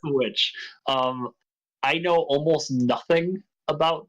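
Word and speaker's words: The VVitch: Yeah, but it's pronounced The Witch.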